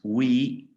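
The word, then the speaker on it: weigh: need depend on we this is called or pronounced we the gh are not pronounced they are silent come from resemble okay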